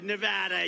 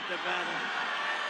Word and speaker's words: Nevada: we love it and you always have to say it correctly Nevada you got to call it Nevada with thousands of proud